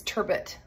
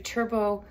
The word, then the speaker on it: turbot: a lot of people might see it and think it's turbet and I'm sure that's probably like the way the British pronounce it but I this is a very French dish we're going to do Turbo with sorl and we're